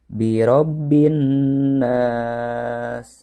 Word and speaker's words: بِرَبِّ النَّاسِ: Jadi birobbin nas, boleh 2 atau boleh 4. Birobbin nas, 4 harkat atau 4 ketuk.